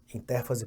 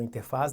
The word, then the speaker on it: interfase: antecede a divisão celular intérfase portanto ou interfase depende do autor se usa com ou sem acento então intérfase não é